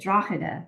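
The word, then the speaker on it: Drogheda: okay here's a question from Paul Lennon in drag Ireland I hope I said your city name correctly Paul I think that's Dr did I how do you say it Dr oh sorry I totally watched it draa thank you fantastic research Tyler and well done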